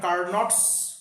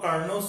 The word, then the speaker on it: Carnot: এখানে টিটা হচ্ছে সাইলেন্ট, ওই জন্য এখানে কার্নটস আমরা বলবো না, বলবো কার্নোস সাইকেল।